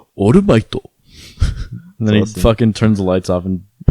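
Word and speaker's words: オールマイト: And it's not All Might, it's Orumaito.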